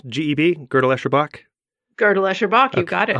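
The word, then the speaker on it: Gödel, Escher, Bach: And could you just pronounce GEB, Gödel-Escherbach?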